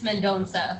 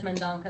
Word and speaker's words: Mendonça: It's Mendonça, but I was just telling the folks, Mendonça, yeah, it's Portuguese. My husband says Mendonca though, so it's fine. So The rest of his family says Mendonça.